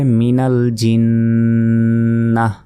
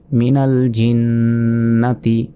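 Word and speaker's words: مِنَ الْجِنَّة: তবে এখানে আরও একটি বিষয় রয়েছে, এইখানে যদি আমরা ওয়াকফ করি, মানে থামি, এই গোলতার পরে যদি আমরা থামি, তাহলে গোলতার উচ্চারণ হবে না, তখন এই ছোট হার উচ্চারণটা এখানে করতে হবে।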